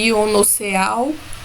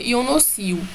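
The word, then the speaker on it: Ionoseal: Se escreve Ionoceal, porém se pronuncia Ionocil.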